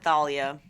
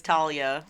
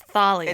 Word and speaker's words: Thalia: I think they pronounce it Thalia. Thalia. Which I always thought as a kid it was Talia. It's not Talia. It's Thalia.